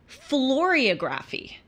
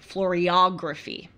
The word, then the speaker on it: floriography: And it was about floriography, or actually it's said floriography.